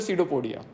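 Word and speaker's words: pseudopodia: ना लेकिन कोई बोले क्या है तो बोलते सीडोपोडिया समझ में आया तो एग्जाम के लिए ऐसे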